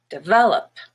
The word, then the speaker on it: develop: schwa so relative relative the word develop has a stress on the second e the middle syllable and that one is red but the first e is just a schwa de vel and then the op is up also schwa develop and then we have